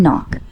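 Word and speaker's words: knock: Read me some words have initial कॉसोनेंट्स which are not pronounced. Easy H in honest W इन रैप के एंड नॉक।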